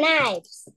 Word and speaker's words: knives: you say it good knives you don't say the K we just say knives okay number four this